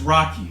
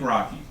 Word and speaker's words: Rocchi: My name is Rocky. It's spelled R O C C H I, but it's pronounced like Rocky.